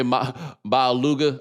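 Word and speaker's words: Maualuga: Ray Maluga, I believe is how you say it. Yeah, is that Maluga? Is that yes.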